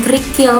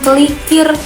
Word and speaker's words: kerikil: Contoh lagi kayak kerikil. Ada beberapa orang yang ngomongnya itu bukan kerikil melainkan kelikir. Dan ternyata itu juga sama makna katanya tuh AC-nya tuh sama gitu. Tapi orang-orang tuh hanya menukar posisi huruf aja.